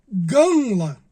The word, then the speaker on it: gamla: A palavra camelo em aramaico, ela é pronunci, ela é pronunciada ganla, que é g a m l a.